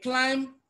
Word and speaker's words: climb: again option D is climb in climb you don't pronounce b all right so that